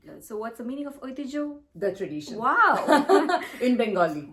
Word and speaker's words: Oitijhyo: Describe your brand, Oitijhyo, and about its work in a few words.